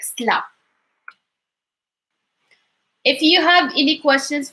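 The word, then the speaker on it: سلا: say like من مدينة Sally, even though we do not like literally pronounce it as Sally, we would say like Sla.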